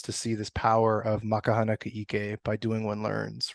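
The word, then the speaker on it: Ma ka hana ka ʻike: MaKaHanaKa'Ike.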